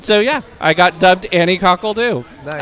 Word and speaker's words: Anni Coque l'Doo: and I was like, "Annie Cole do. That's my name." And so yeah, I got dubbed Annie Cole do and I spell it French cuz you know, got to make it sound fancy.